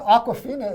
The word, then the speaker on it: Awkwafina: Did you know Awkwafina is also the name of a bottled water? But it's spelled differently, It's right? spelled differently, but it sounds the same.